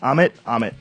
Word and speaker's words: Amit: Amit? Am I saying it right? Absolutely.